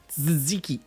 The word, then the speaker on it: tzatziki: Tzatziki. The T is silent. What T? There's fucking 2 of them. Tzatziki.